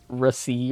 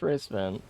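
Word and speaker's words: Racevan: a substitute teacher and they pronounced my name in a way that was not the word. I think they said like ri or something and everyone looked at each other and was like, "What the What the hell now? It's just race van.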